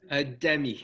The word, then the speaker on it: Demi: And am I pronouncing Dem right? Demi.